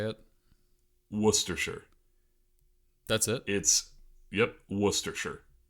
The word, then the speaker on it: Worcestershire: Worcestershire. Worcestershire. Okay, because not Worcestershire. Not Worcestershire. Wuss. Okay. Like you're calling someone a wuss.